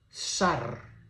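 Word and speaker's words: שַׂר: La palabra en hebreo dice esta palabra se pronuncia como sar príncipe.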